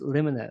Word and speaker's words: Limina: So I want to make sure I'm getting the pronunciation correct. So it's Limina, is that correct?